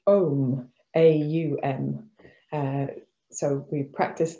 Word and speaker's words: Om: english or in the latin alphabet it's actually pronounced ohm a-u-m uh so we practice the three sounds